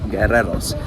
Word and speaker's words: guerreros: comments helpfully informed me, the U in that word, you don't really pronounce because a U that